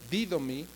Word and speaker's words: didomi: De hecho, esta palabra constituye, significa, viene de una palabra griega que se se que es didomi, didomi, con acento en la i, didomí, y que significa dar, entregar, conceder, permitir, tener misericordia.